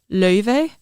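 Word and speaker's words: Laufey: in pop right now, Leve performed there too. How did you say it? Leve. Like clean Icelandic, it's pronounced löve.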